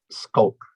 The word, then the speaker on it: Schalk: my name is so how do you pronounce it especially your first name skulk skulk okay because i would i think shulk or skulk is how we would read it in dutch i think that's actually